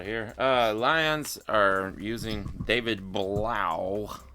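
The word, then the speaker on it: David Blough: Lions are using David Blau. I think that's how you say it. Blau, blue, bleh. Yeah. It's more like bleh.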